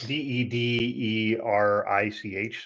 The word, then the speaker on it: Dederich: It's spelled different. It's Dederich. So it's not Dietrich.